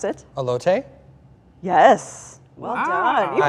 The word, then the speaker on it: elote: How do you pronounce it? Elote?